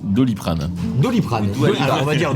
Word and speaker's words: Doliprane: Je crois, Ça, pardon, c'est qu'on un verre prononce Doliprane.